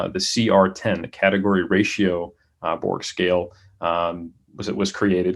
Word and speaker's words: Borg: publication uh was by borg as we say as americans it's probably pronounced berge in 1970 and the